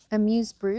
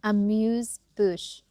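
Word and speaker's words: amuse-bouche: Amuse Bru. What is that? Amuse bouch.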